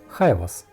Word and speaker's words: Jaivas: Впоследствии группа осознала, что название на английском не слишком подходит для фолкгруппы, поэтому они изменили его на хайвас. Это чилийское произношение того же Хайбас.